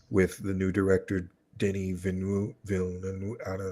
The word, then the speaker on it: Villeneuve: That's why Dune finally was amazing with the new director Denis Villeneuve. I don't know how to say his last name. Villeneuve?